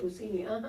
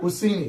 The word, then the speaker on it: Busceni: I am here with a very special guest and friend of mine, Busceni. Did I say it right? Busceni, Busceni. Okay, I got it right. Woo! My goal today was to pronounce your last name correctly before the end of the show.